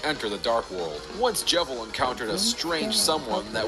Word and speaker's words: Jevil: while she will never let's talk about jeil but this time we pronounce things correctly yes jevil the jester of chaos or should I say